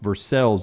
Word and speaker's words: Versailles: 1:20 Central from Versailles, just outside of Lexington, but pronounced Versailles up there. Versailles, Kentucky. Looks like Versailles. So it's Versailles in France, but it's Versailles in Kentucky?